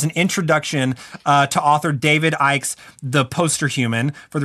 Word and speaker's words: Icke: matrix is it it is his name a key or Icke it's AI it's IP okay so it's IC ke David Icke I'm gonna make sure